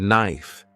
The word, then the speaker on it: knife: sounds like enough and knife is pronounced without the k sound this can be confusing